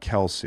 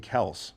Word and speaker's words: Kelce: Somebody's telling me it's pronounced Kels, not Kelce. It is. It actually Yeah, but I've is. never heard him say I'm Jason Kels.